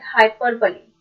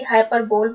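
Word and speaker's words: hyperbole: Figure of speech है हाइपरबली, जिसे आप जनरली हाइपरबोल बोलते हैं, बट the correct pronunciation is हाइपरबली।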